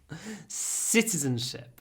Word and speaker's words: citizenship: course citizens have citizenship be careful it's not cens it's citizens citizens have citizenship the stress comes from the consant citizenship citizenship okay the next one